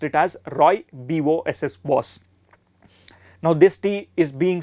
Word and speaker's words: Rooibos: tea is called as rooibos tea Rooibos are pronounced it as Roy b o s s boss now this tea is being sold by many